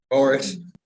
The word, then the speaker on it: Boris: name how do you say your last name Boris Boris okay you born in 1991.